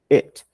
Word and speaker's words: it: é com essa palavra it. Muita gente fala it, não é i, ok? É e, it's. É muito diferente você falar eat.